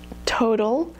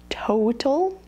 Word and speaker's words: total: how strong it is total has an O sound in the middle of a word so here you would hear a little bit of that mu sound at the end of oh so people might say total oh but that would be pretty unusual instead it's gonna be